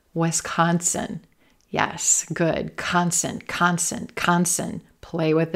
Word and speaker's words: Wisconsin: Wisconsin, Wisconsin. Olive sock, Wisconsin. Yes, good. Consonant. Play with it. Wisconsin.